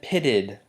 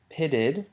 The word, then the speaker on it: pitted: you can't say craw and then pitted h pitted takes on the OD sound um and um also